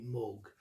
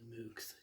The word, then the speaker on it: Moog: that right but it's the way i've always pronounced it before i heard that it's supposed to be moog so i'll keep on saying moocs if you don't mind and i show this